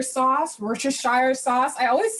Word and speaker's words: Worcestershire: be adding our broth our um in our worchester sauce worcestershire sauce i always say it the wrong way